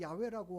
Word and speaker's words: 야훼: 여호와라는 단어가 여호와가 맞는지 야훼가 맞는지 모르는 거예요. 그래서 지금은 두 개를 다 쓰고 있는 거죠. 어느 교단에서는 야훼라고 하고 어느 교단에서는 여호와라고 읽어요.